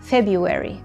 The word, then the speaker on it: February: وانتبهوا انه حرف الار بهيدي الكلمه هو silent letter، حرف صامت لا يلفظ. اوكي، سو غلط اني اقول February، غلط، ما بقول هيك. شيلوا الار، اعتبروها غير موجوده واقرأوا February.